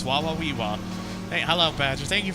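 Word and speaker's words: Wawaweewa: Woiwa. Woiwa. Damn it, Brian, you're supposed to say it properly. It's Wawawiwa.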